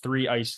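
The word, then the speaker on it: 3ICE: also play in uh i think i said it wrong in the intro the three ice league is that how you say it yeah that's what i had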